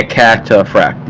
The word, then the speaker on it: cataphract: Pretty sure it's cataphract. Cataphract? Okay. I just want to know how the fuck you pronunciate it. Yeah, cataphract. Yeah, you're pronouncing it right.